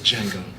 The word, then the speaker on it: Django: Django. The original version of the new one. Can you spell it? D-J-A-N-G-O. The D is silent.